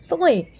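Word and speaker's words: ط: Now the most awaited alphabet we have is Toy. Toy. Okay, well, Toy is a pronunciation difference between to and ta. Like when you read Arabic Qaida for reading Quran while you learning Qaida, it's ta and to.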